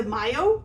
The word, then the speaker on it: Myo: So the next one is gonna be the Mayo, I think is how you say it, M-Y-O, okay, which is kind of a green guy.